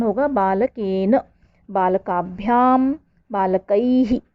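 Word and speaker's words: बालकैः: बालकाभ्याम, बालकैहि, विसर्ग लगी हुई है। तो देखेंगे, आपने देखा होगा जिस तरीके की मात्रा होती है उसी के साउंड जैसे मिलता हुआ ह का उच्चारण होता है। तो बालकैहि।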